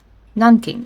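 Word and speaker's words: Nanking: Do I pronounce that right? Oh my god pronunciation. And my my brain listened non king. Yes, it's right. Just had to double check.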